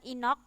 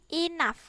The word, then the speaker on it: enough: like in the classroom ini bacanya bukan Ino tapi enough Oke it is very